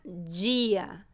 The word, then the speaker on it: dia: Mas prestem atenção, antes da vogal I, o D pode soar um pouco diferente, com o som D. Como, por exemplo, na palavra dia, dia.